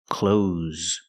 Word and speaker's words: clothes: is an uncountable noun the word is not pronounced close close it's pronounced close close use the z sound with a voice like Zebra z clothes these are clothes remember